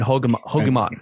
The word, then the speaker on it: Hogeman: Yeah, everyone go follow Hogeman. The Air Yeezy too. Rhymes with Pokemon.